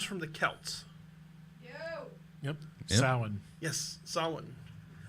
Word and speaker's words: Samhain: Samhain. Yes, Samhain. Occasionally incorrectly pronounced as Samhain, but Beth and Brian are correct. It is Samhain. It has a freaking M in it.